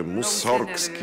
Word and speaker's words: Мусоргски: специално репертоара на мусоргски или както той казваше мусоргски ударението е мусоргски и много се нервираше